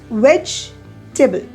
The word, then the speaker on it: vegetable: You pronounce it as vegetable. Vegetable. The E after G is silent. You can understand it from the difference in number of syllables also.